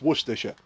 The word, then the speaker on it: Worcestershire: then did the whole break it down into Worcestershire and then it's like but you say this bit like sure so it's Worcestershire and she then went